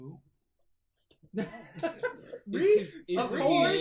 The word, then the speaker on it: Rhys: we got See what the Reese. Riss is cooking. Think Reese's Pieces. Reese. Sorry, it was how you spelled it. You spelled it RHYS. But Yeah, that's how it's it is supposed to be pronounced said.